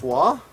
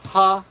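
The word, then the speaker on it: は: One of them, of course, is this wa. Looks like this. And the other one is this, which can be pronounced ha, or can be pronounced ha. This is either pronounced ha or wa.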